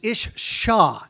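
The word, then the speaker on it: אִשָּׁה: The word female is ishshah, S-H-A-S-H is the way we would spell it, S-H-A-H.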